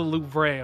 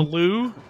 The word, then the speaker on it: Louvre: What do you want to call the Louvre? Yeah. Like the loo, like the toilet? The Louvre? Yeah, there's a V in there, but...